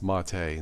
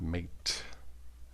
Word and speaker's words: MATE: we got here yeah it is pronounced mate not mate uh Marty says you can you guys can call it what you want but officially it's mate I don't don't think